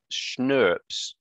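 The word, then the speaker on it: snRNP: can't quite remember anyway you pronounce schnurps same way you pronounce schnapps so schnurps are small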